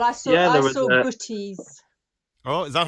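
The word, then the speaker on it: boeties: Well, I saw, Yeah, there was, booties. Oh, is that how Yeah. you pronounce that?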